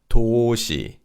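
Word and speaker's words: 도시: And this is toshi toshi. Shei in this word also means a city. So both syllables toi refers to the meaning of city.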